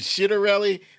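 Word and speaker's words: Ciattarelli: better lead over jack shittarelli yeah i think i think that's how you pronounce his last name is it shitarelli let me ask marie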